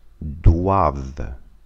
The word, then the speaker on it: doivent: Nous devons, vous devez, ils, elles doivent. Та звук ва.